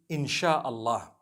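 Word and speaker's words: Insya Allah: s-y-a they pronounce it they pronounce the s y the way we pronounce s h so they can write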